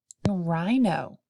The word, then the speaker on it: rhino: L towards the end rhino has a silent H towards the beginning tassel has a silent